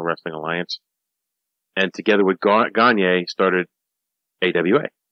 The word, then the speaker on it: Gagne: Alliance, and together with Gagne started AWA. Gagne. No, Gagne. I know. I would have pronounced it Gagne if I did not know the name.